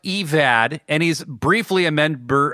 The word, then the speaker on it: Evad: Sullivan, and Kevin, but his name is pronounced Evad, and he's briefly a